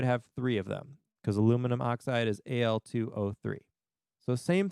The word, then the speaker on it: aluminium: that by the way if you've heard aluminium that is also a correct way of spelling and pronouncing aluminum that's more of a british english version of it but that's totally fine if that's how you learned it so we have